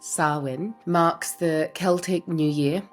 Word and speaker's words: Samhain: The Celtic Festival day Samhain, which is a Gaelic word pronounced Samhain, marks the Celtic New Year and translates to summer's end, or the end of summer.